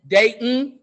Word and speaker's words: Dayton: Just like here in Dayton, there's no T.